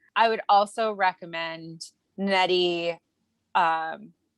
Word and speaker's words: Okorafor: I would also recommend Nnedi, Okorafor. Oh, I'm mispronouncing her last name. Shoot, hold on one second. No, I do think you're saying it right. I think it is Okorafor.